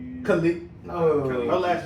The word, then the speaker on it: Khalid: Yeah, the Get You by Cali. Khalid. Oh. Her last name is spelled silly.